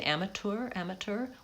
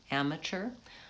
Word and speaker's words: amateur: People, so if you're looking for British, I think they say amateur with a T. We say amateur with a CH sound, amateur. He's a real amateur. It's vowel a at the beginning, and that syllable is stressed, so it's long. And then it's vowel schwa, amateur, and then it's vowel